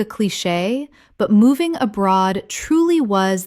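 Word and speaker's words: cliché: faux pas faux pas Word 205 cliche Common mispronunciation clee-chee Correct pronunciation clee-shay Two syllables with the CH making a SH sound from French. Example I know it sounds like cliche, but moving abroad truly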